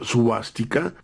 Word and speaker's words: suástica: hecho la palabra suástica proviene de cuatro fonemas sánscritos SV luego V a s t i latina t y latina k de kiloa pronunciándose suástica y cuyo significado es